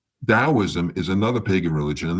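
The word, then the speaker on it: Taoism: Dowoism spelled with a T, but it's pronounced like a D. Daoism is another pagan religion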